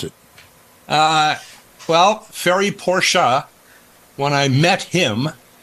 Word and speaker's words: Ferry Porsche: How do you pronounce it? Well, Ferry Porsche, when I met him, said Porsche.